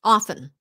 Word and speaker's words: often: um lin says hi t lina it is true that we drop the t in often is it true yes often but still keep the t in after lasalle often often oh